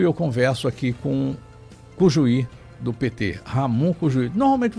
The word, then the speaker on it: Cujuí: A pronúncia em espanhol é Cujuí, Ramon Cujuí.